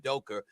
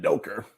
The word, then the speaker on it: Udoka: performance of coach imay udoka this season it doker while people from new york can't pronounce the a at the end of words they put the ers there how does that